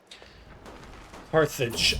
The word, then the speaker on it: Carthage: Carthage as it's pronounced in English.